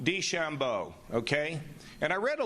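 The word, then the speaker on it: DeChambeau: de help me out D Bano uh I don't think that's the right way to say it Shambo D Shambo okay and I read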